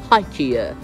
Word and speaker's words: IKEA: allora, poi tra l'altro in Inghilterra si pronuncia in inglese, si pronuncia IKEA. Se dite excuse me, where can I find IKEA? Non ti capiranno mai e poi mai.